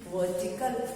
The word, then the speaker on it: vertical: वर्टिकल, VERTICAL, वर्टिकल। इसमें जो आर है वो बहुत प्रोमिनेंट नहीं बोलना, हमको वर्टिकल नहीं बोलना, वर्टिकल।